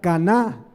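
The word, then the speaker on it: קנא: Es la palabra hebrea caná, como una cana, pero con acento en la A.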